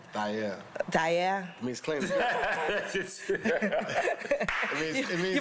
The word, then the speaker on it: Thair: Oh, That's the real way to say it. It's actually pronounced like that way. Nice. We just said Thair with the American accent, but the dialect is Thair.